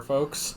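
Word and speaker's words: Ffoulkes: Bit of a typo there, folks.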